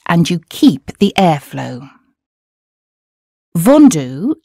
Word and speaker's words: vendu: Vendu is another word lots of us get wrong. Here's how Félix says it. Vendu. Again, the sound U sounds like the U in hue after you drop the H and you keep the airflow.